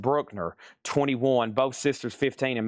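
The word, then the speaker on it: Bruckner: Classical 20, Maggie Bell 6, and then over here we have Brookner, pronounced Brookner 21.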